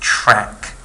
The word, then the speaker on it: Trk: going to talk about is the trk family which is re pronounced track okay so we're going